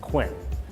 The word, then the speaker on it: Kun: And so their generation name is Kun, but we pronounce it Quinn.